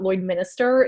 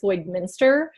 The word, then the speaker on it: Lloydminster: there correcting everyone and telling them it's not Lloydminster, it's Lloydminster.